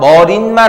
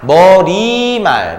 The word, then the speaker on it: 머리말: 조심하세요. 머릿말 아니야. 머리말.